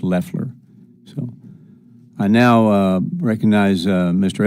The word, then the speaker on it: Loeffler: The administrator's last name is pronounced Loeffler.